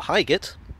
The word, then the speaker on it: Highgate: highgate or highgate as the tube announcer pronounces it is an upmarket suburb